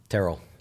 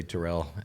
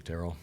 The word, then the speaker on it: Terrell: A lot of people will say Terrell, but it's actually Terrell.